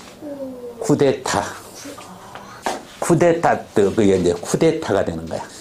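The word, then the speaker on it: coup: 다음 오케이 구 아 발음 조심해라 저것도 쿠프 아니야 어떻게 발음 피 묵음이야 쿠 그냥 쿠 꾸 프랑스에서 나 다시 아까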